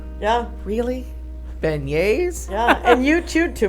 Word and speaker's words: beignets: Was like, Yeah, really, beignets? yeah. And you chewed too much, but we lost Molly. Well, because they're spelled. It's spelled That's why we lost it. B-E-N-I-E-T-S. Yeah, looks like begnets. Like John Benet.